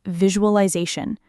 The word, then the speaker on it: visualization: and that people consistently mispronounce, is the word visualization. Say it with me for a second. Vi-ju-ul-I-zation. Vi-ju-al-I-zation. The stress is on that zay syllable, right?